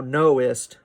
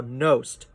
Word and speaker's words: knowst: So now instead of thou knowest, right, the emphasis in knowest is on know, and the ist is an unstressed syllable. But he doesn't want that extra syllable in the line. So it becomes thou knowst that this cannot be said, right?